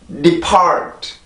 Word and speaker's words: depart: depart, depart, depart. 한 번 더요. depart, depart, depart. 네, 이 단어는 그렇게 발음이 돼요. 지금 한 것처럼 절대 depart, depart 이게 아니라 depart, depart, depart.